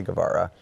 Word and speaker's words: Guevara: I always tell people it's spelt and pronounced just the same as Che Guevara.